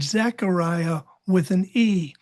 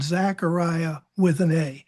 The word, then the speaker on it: Zechariah: name and stuff, that Zechariah with an E is probably the better pronunciation than Zechariah with an A.